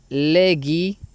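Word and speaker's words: λέγει: Ahora vamos a pasar a este siguiente versículo, Juan 14:6, que dice: Legi, aquí tenemos el diptongo ei que se pronuncia como i, legi, auto, Jesús, ego, y mi.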